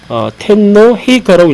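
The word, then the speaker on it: 天皇陛下: 텐노 헤이카라고 읽히는데, 텐노 헤이카라고 읽히는 또 하나의 네 글자의 이제 이 한자, 일본식 한자어가 있는데 바로 천황 폐하를 텐노 헤이카라고 읽습니다.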